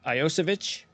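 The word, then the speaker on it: Iosivas: course of the Season yeah and so you pronounce uh Andre's last name iosovich okay very interesting you gotten to perfect that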